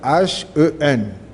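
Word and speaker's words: ἕν: C'est H-E-N. Mais on prononce ça Hen.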